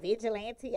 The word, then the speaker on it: Vigilante: name vigilante vigilante yes so it is pronounced how it spell because a million people ask me they was like is that vigilante i was like yes